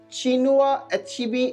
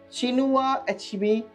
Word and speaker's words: Chinua Achebe: First, let's get started with Chinua Achebe is the pronunciation. Chinua Achebe or Chinua Achebe, whatever you would like to pronounce.